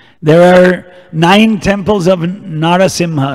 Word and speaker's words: Narasimha: are nine temples of Narasimha narsimha it's pronounced differently in Indian different places Bengal they say mashenka dev mashenka dev rain and in South Indian say Narasimha man lion and in North Indian Nursing not sing the A's are gone